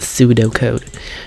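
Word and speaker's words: pseudocode: Holy Algorithms are usually written in pseudo code pronounced pseudo code because algorithm is a highle description of a solution to a problem.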